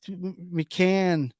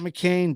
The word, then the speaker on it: McCann: said his name wrong it's McCann not McCain dummy well joke's on you